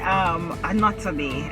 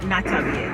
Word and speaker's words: Anatobe: So we say Anatobe and not Natabe. That's the correct pronunciation, Anatobe.